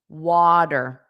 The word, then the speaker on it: water: Dur dur dur dur water and then you have to think about syllable stress. The syllable stress is on the first sound water.